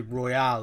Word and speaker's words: Royal: that we got that he's pronounced royale as well he's been